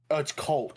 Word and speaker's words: Colt: say his name was Colt. Sorry. Yeah. Colt like the handgun. Yeah. Sorry. It's Colt. I'm calling him Cole from here on out though.